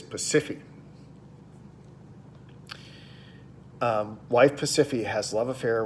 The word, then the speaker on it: Pasiphae: I'll do my pronunciation here. Pasiphae. It feels wrong, but that's what it is. Pasiphae.